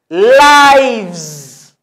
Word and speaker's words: lives: The pronunciation is lives.